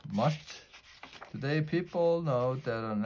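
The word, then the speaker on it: musth: to mate this time it's called mush pronounced must today people know they're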